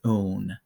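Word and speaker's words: -one: the end of it even though it looks like it's spelled one we're gonna pronounce it as own so and we're gonna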